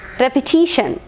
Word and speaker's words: repetition: Repetition. Repetition. So repetition, N is the last syllable. So penultimate syllable, teesh. Repetition. Repetition.